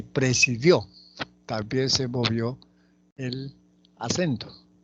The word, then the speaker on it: presidió: Presidio y presidió.